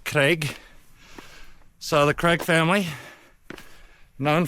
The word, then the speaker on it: Craig: And it's pronounced a little bit differently. Craig.